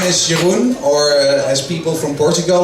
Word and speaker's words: Jeroen: So, my name is Jeroen, or as people from Portugal like to pronounce it, No, my name is Jeroen. And then I go into this conversation like, Jeroen, heroin.